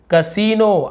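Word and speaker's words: casino: कसीनो, आई तो लिखा हुआ लेकिन बड़ी ई की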